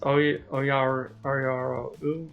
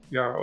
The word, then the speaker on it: Yarrow: is it pronounced Oyaro, or is that just Yaro with decoration? I think that's decoration on the outsides.